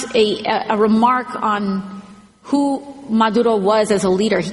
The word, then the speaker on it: Maduro: And Maduro. Maduro. Got a nice little subtle roll of the R in there.